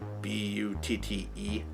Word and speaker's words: Butte: They got a town named Butte, but it's spelled B-U-T-T-E. So it looks like but it's Butte.